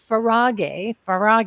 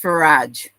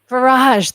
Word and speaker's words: Farage: There is a link, Farage, No, right? no, it's pronounced Farage. Farage, that's right.